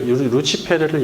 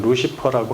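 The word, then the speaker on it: Lucifer: 빛의 출처 뭐 이런 루시포라는 호칭은 이걸 루치페르를 영어로 그대로 스펠링은 같지만 루시퍼라고 하는데 호칭은 최초 라틴어 성경인 불가타가 이사야 14장 12절과 베드로후서 1장 19절에 새별을 루치페르로 번역한 데서 유래했습니다.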